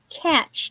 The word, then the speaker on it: cache: ivy plant pot but it's called a a catch CA ch ch it's spelled cache pot there's no T it's it's c a c h e yeah and this is